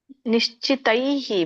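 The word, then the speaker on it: ನಿಶ್ಚಿತೈಃ: ಪ್ರತೈವ ಹೇತುರ್ಮರ್ ನಿಶ್ಚತೈ ನಿಶ್ಚಿತೈಹಿ ಮಾತಜಿ ಅದು ದೈಹಿ ವೀಚನೆ ಬಂದಾಗ ದೈಹಿ ತೈಹಿ ಅಂತ ಬರುತ್ತೆ ಅದು ಉಚ್ಚಾರಣೆ ವಿಸರ್ಗ ದೈಹಿ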